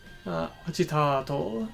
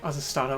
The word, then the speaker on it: agitato: Agitato is how it's pronounced there. I thought it would be like Azastato or something.